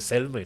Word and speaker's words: salmon: ks cakap sebut lag salmon bukan salmon salmon salmon salon salmon l is silent Adif so Adib makai